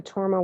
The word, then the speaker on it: torma: um and so um the word torma in tibetan is made up of two syllables tor ma and tor means to